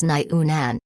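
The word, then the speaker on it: 牛腩: immediately i remember her nyu nan beef brisket the pronunciation of liu lan was quite similar to that of beef brisket in chinese which was nyu nan she had a little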